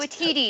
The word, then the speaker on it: Waititi: How do you pronounce his Taika name? Waititi.